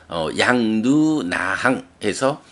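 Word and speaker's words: yaṃ nūnāhaṃ: 요런 의미를 가지는 말이 양 누나항에서 나는 이렇게 해야겠다라는 말이고요 자 발음 양 그리고 누나에서 보면 막대가 그어져 있죠 처음에 말씀드렸지만 장음이라는 의미에요 그래서 양 누나항 양누나항 요렇게 두 번의 장음을 발음해 주죠 양 누나랑 와양단모 여기서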